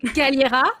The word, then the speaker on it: Galliera: I'm so bad at pronouncing that. Galliera, yes.